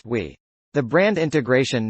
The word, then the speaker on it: Vi: name would be pronounced vodafone idea is now v pronounced we the brand integration not